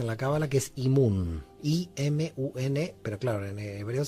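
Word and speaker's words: אימון: Primero que todo, nosotros tenemos un concepto muy importante en la Cábala que es Imun. I-M-U-N, pero claro, en hebreo se escribe diferente, pero bueno, así se dice en castellano.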